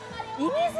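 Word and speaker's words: 射水: ません、こちら何て読むんでしょうか。富山県射水市です。射水って読むんですね、はい、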